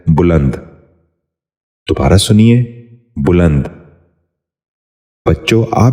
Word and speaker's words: بلند: سبق شروع کرتے ہیں۔ پہلا لفظ ہے بلند۔ یہ غلط تلفظ ہے، درست تلفظ ہے بلند۔ دوبارہ سنیے، بلند۔ بچوں